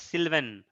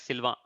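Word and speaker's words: Sylvain: v a i n in English we pronounce it as Sylvan but in French they pronounce it as Silva so this is very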